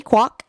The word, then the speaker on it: Kwok: a new vice president, her name is Stephanie Kwok. I believe I pronounced that correctly.